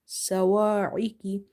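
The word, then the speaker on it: الصواعق: Swad is having shadda as well as it's having fatha on top of it, and this swad is heavy because it's from the musta'aliya letters, heavy letters. Minassa, minasso, sawa'iki, wa'iki, riqi. Ain is from the middle of the throat, kaf is from the musta'aliya letters. Musta'aliya letters are your heavy letters, so you will make swad and kaf heavy.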